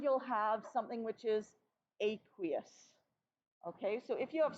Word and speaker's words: aqueous: okay let's take a look at that word aqueous and you can see the pronunciation aqui us okay aqueous and it means are you guys familiar with